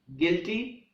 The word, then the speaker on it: guilty: silent letter is you the following words having the combination of B you I or GU I have a silent you like building guilty guitar guild and guys in these words letter U is silent the words guests and